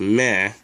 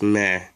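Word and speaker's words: 目: two of them anyway this is one of the ways to spell it it's pronounced meh and this is the other way to spell it and it's also pronounced meh as i mentioned in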